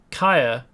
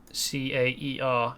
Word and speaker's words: Caer: I just noticed Kaya is stronghold, or maybe castle in Welsh. So there are several different Kaya and that's how you would pronounce that, Caer in Welsh, Kaya, rather than Caer as it appears.